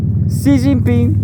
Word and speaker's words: Xi Jinping: It's not he. It's C. Xi Jinping.